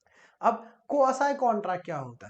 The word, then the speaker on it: quasi: सो बहुत से लोग तो प्रोनाउंस करने में कंफ्यूजन कर देते हैं, सो we pronounce it एज क्वासी contract.